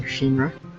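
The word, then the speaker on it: 神: is based on chinese whereas um kami would be the kun reading which is based on japanese pronunciation so it's all that it's shin rather than kami and she also is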